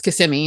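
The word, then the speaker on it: Kissimmee: to Google it and have it say kissimi versus someone from here that goes yeah it's kissimi not kiss or kiss you know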